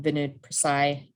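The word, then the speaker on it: Vinay Prasad: but against these mandates so people like um vinod prasay that's how you say his name um and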